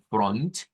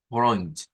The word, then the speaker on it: Freund: usted encuentra dos palabritas, como en el caso de Freund, que lo podemos hacer con una R, como Freund, o lo podemos hacer con la R gutural, como lo hicieron ustedes, es decir, pronunciarlo como Freund.